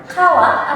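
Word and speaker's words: 川: Untuk kunyominya apabila dia berdiri sendiri seperti ini, maka dia dibacanya kawa atau gawa.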